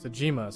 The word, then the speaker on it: Sajima: Sajima, sorry, is how they say it in this.